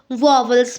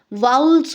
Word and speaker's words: vowels: हाँ जी, जिसको बहुत से लोग वॉवल्स पढ़ते हैं, लेकिन आपको बता दूं इसका सही प्रोनाउंसिएशन वॉवल नहीं होता है, इसका सही प्रोनाउंसिएशन वाउल्स होता है फ्रेंड्स।